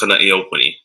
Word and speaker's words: Kana'iaupuni: And then for reference, my name is Kana'i. It's pronounced Kana'iaupuni.